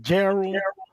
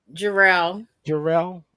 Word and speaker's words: Jarrell: Is it Gerald? Gerald Mills? Is that how you pronounce it? Jarrell. Jarrell Mills.